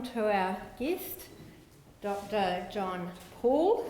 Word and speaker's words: Pahl: John Paul although the name is spelt like pal but it's pronounced Paul so I've learned that tonight and professor Douglas Pratt and dr.